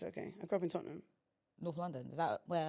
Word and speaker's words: Tottenham: I grew up in Tottenham.